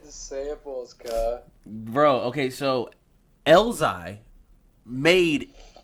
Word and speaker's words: Elzhi: Like, his name is Elzai. It's spelled Elzhi.